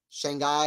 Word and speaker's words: Shanghai: Shanghai is pronounced Shanghai. Rhymes with father.